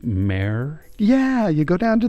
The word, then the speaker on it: mer: It's going to be like mare.